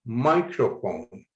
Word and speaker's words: microphone: Or microphone, highlighting my to show that the first syllable should be stressed.